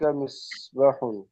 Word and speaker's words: مصباح: হ্যাঁ তারপরে, ذلك مصباح উহা একটি মিসবাহুন, বাতি। এটা মিসবাহুন না, এখানে উচ্চারণ তালাফুজ مصباح সহিহ, যালিকা মিসবাহুন।